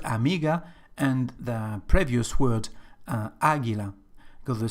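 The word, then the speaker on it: Águila: a feminine word and we've got the stress just on the first syllable Aguila for this reason we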